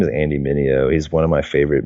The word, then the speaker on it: Mineo: How do you spell that? Andy, like Andy. Yeah. Mineo, it's Mineo.